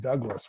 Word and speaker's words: Dubhglas: Spelled Dubhglas, but pronounced Douglas, which happens to be the owner's middle name.